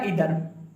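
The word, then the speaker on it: either: इधर का मतलब होता है, इसको आप कोई आइदर भी पढ़ता है, ठीक है, लेकिन सही उच्चारण क्या इधर, इधर का मतलब होता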